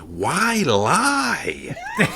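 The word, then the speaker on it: Wylye: And there's also a place that I'd spotted recently when I was down by Frome called, well, it's spelled W-Y-L-Y-E, so I think it's pronounced Why-Lie.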